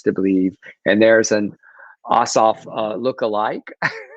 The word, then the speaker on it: Ossoff: and justice candidates, Reverend Ralph Warnock and John Ossoff." I never say his name right. Ossoff.